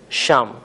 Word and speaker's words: شمع: آپ کو اور دوں، ہم اردو میں شمع کہتے ہیں اور فارسی میں شام۔ فارسی میں ان واحد